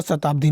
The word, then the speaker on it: शताब्दी: सौ छोटा सौ नहीं होता, शताब्दी में छोटा सौ नहीं होता, ये ऐसे ही गलती है, ओके।